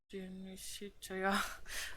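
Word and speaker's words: De Amicitia: We finished Lofi and the Synecdoche, and are now engaged with Dionysitia, pronounced Dionysitia.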